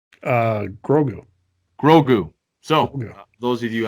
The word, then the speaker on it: Grogu: So the last thing we're going to leave you guys with is, Greg, how do you pronounce Baby Yoda's name? Grogu.